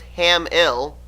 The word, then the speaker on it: Hamill: I believe I'm actually saying that name wrong. He's told me the correct way of saying it. It's Hamill.